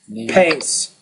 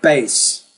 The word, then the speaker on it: pace: So you have to put a lot more air, I think, than what you're doing with that sound.